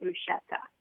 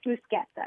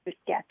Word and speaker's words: bruschetta: In Italy, it's bruschetta. It's Uh-huh. always been bruschetta. Right. And it comes from the CH, Mhm.